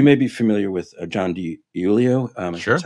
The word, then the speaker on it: DiIulio: You may be familiar with John DiIulio.